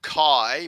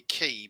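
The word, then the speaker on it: χ: or k um so most people pronounce it chi but um i'm also i've i'm informed that it actually should be key but i'm happy with either kai or key okay that's the chi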